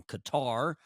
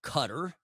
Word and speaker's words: Qatar: of that one Minister from Qatar or Cutter depending on your choice of pronunciation that it wasn't entirely